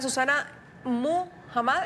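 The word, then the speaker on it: Susana Muhamad: Susana Muhammad, ¿estoy pronunciándolo bien? Sí, perfecto.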